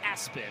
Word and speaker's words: ESPN: It's pronounced Aspen, but on his birth certificate, it's ESPN.